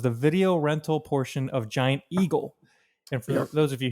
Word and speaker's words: Giant Eagle: video rental portion of giant eagle and for those of you who don't know uh if you have a pittsburgh accent you would call it john eagle john that's how he